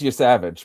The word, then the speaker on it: Yosavage: So, um Spencer, tell us about um Trey Yosavage. Yeah. And it is Yosavage, by the way. So, you said it right the first time.